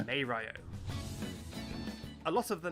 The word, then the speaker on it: Mario: plumber that everybody knows some say his name is mario others would say mario of course the actual pronunciation is maeryo a lot of the